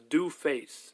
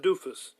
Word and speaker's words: Dooface: His name is Dooface, not Doofus.